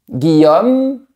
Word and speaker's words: Guillaume: Il n'y a pas d'accent sur le e de Guillaume. Donc on ne le prononce pas.